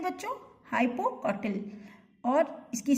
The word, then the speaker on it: hypocotyl: है और ये जो ग्रीन भाग है इसे हाइपोकॉटल कहते हैं बच्चों, हाइपोकॉटल। और इसकी स्पेलिंग मैं कर देती हूँ HYPOCOTYL, हाइपोकॉटल।